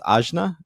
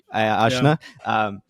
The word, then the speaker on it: Ajna: I believe Anya is gonna. I actually think it's pronounced Ajna. Ajna.